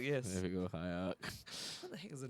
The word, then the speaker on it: Hierarch: name wrong for a few times and not been Hierarch. corrected. Yeah, Noble Hierarch, yes. There we go, Hierarch.